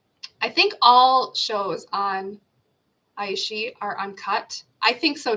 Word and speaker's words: iQIYI: Aishi, right? Iqiyyi, Aishi.